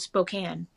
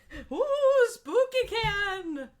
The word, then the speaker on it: Spokane: of the wastelands of Spokane or as non-natives call it who canoo spooky can no they don't know how to pronounce it but it's really funny